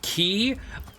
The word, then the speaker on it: quay: When I see Q-U-A-Y and I say key, in my head, I imagine saying it like key, Plenty K-I.